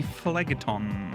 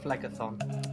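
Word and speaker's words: Phlegethon: Phlegeton? Did I pronounce it? Phlegeton? Phlegathon. Phlegeton. Yeah, it's Thon. Thon.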